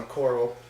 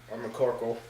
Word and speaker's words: McCorkle: see stefan schroed versus sean mccorl and mccorkle sorry again my bad if i pronounced the name wrong corrected myself there and you're gonna see